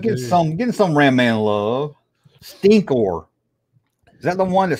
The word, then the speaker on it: Stinkor: I had his name wrong. Stinko. That's what I called him. Stinko. That's what I thought his name was.